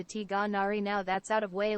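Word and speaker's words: Tighnari: a rainy day what whose name is not pronounced as tinari it is just that English engl doesn't have Arabic letter used in its name it is more similar to tari now that's out of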